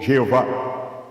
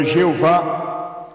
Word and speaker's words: Jéhovah: exacte de ce pédagogue donc la prononciation de Jéhovah est né par un mélange de voyelles d'Adonaï et les consonnes de Yahvé donc comment mentionné chaque